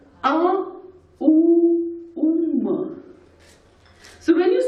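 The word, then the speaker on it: ॐ: But the actual pronunciation is A-U-Um. So when you say Om, it's just in Sanskrit or in Hindi, it's just one word.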